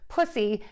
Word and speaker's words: pussy: here, pushy, P-U-S-H-Y, versus pussy, P-U-S-S-Y. The difference here is going to be the S-H sound versus the S sound.